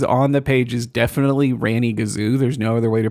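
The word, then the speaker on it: Ranygazoo: word that is on the page is definitely Ranny Gazoo. There's no other way to pronounce it.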